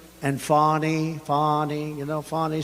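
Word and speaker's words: Fani: and fonnie fonnie you know fonnie spelled f a n i my name is fonnie f a n i i don't figure it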